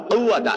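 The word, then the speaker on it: قوة: লা হাওলা ওয়ালা কুওয়াতা, এই যে কফ, এটা কিন্তু কফ, ওই যে মধ্যখান বেজানওয়ালা যে কাফ আছে ওই কাফ না, কিন্তু লা হাওলা ওয়ালা কুওয়াতা, এই কফটা আপনাকে ভালো করে উচ্চারণ করতে হবে।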